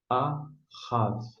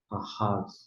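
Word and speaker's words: אָהַב: Só em termos de pronúncia, a gente tem aqui, ó, ahav.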